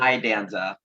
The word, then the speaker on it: Iadanza: I have been trying to get Dominic Iadanza. Iadanza. Iadanza. By the end of this year, we're gonna have Jacob pronounce it right. Okay, Iadanza. Yeah, long I.